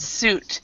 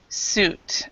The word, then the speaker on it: suit: This word and the other word suit, we say fruit and suit. So the I is silent here. So ooh, ooh is the sound. Fruit, suit.